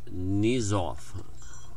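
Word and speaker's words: Knyzhov: We have a Nikolai Nizov. I'm going to go silent K on him.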